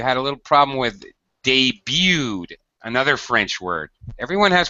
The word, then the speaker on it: debut: Uh, one other word, Ishmael, uh, you had a little problem with debuted, another French word. Everyone has problems with the French words, understandably so. Um, debut. Yeah, the T is silent.